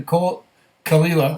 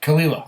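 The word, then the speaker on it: Caol Ila: says I bought the Cole khila okay it's spelled c a o l it's not Cole but kalila okay amazing nose not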